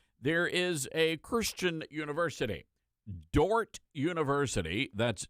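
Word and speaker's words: Dordt: is a Christian University Dort University that's d o r DT the D is silent uh Dort University which which is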